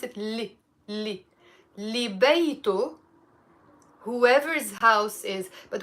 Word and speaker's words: يلي: So, but we will pronounce it li.